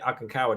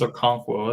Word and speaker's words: Okonkwo: And how'd you get Okinkawa? Did you just, or however you say his name? I think it's Okonkwo. I think he actually. Did you draft him or Okonkwo? There you go, Okonkwo.